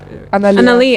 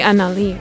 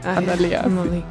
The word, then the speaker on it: Analia: the thing is that, am I pronouncing it correctly? Analia. Annalie. Analia. I was like, I just connected the A to the Lee.